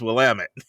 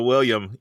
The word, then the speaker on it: Willamette: not the easy is Willamette. So you need to spell that for us, because it took me forever to drop the I. I was always doing the William.